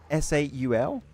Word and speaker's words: Soul: so like Team Soul, they apparently you're supposed to say SAUL. You're supposed to pronounce it, I was told, but like I'm not doing that. Team Soul? Yeah, apparently because the O of Soul is an 8 if you look. And apparently some people told me apparently you're supposed to pronounce it SAUL, which does not sound good.